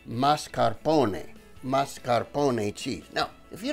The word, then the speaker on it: mascarpone: It's pronounced mascarpone.